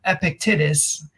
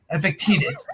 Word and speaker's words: Epictetus: that quote it was from epic titus i think that's how you say it epictetus i needed help bill